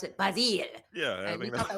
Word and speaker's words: Basil: Yes, he kept saying, he's like, here in England, we pronounce it Basile.